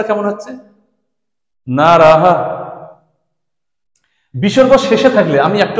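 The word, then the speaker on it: নরঃ: ঠিকমত করি না আমরা যখন শব্দরূপগুলো পড়ি তখন নরমালি পড়ে যাই বিসর্গকে কোন গুরুত্ব দেই না তার কোন উচ্চারণই করি না দেখো আমরা এরকম ভাবে পড়ি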